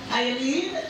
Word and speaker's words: Iolene: We're here to celebrate the life of Iolene, that's the right pronunciation, Wilson, affectionately called Aunt Wizzy.